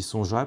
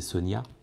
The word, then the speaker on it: Sonja: J'ai dit Sonja, puis un jour on m'a dit bah non, c'est Sonia. Je fais ouais, mais c'est un J, donc je dis Sonja.